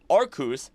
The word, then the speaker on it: Arceus: Because of this, despite the anime pronouncing Arceus, it is incredibly funny to consider the idea that the joke way of saying Arceus, Arcus, thanks to Zeus, is more correct than actually saying Arceus.